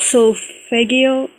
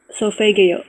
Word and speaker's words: solfeggio: It's called solfeggio. It's the best frequencies. Can you say that one time? What kind of frequencies? Solf, solfeggio. Sophadio?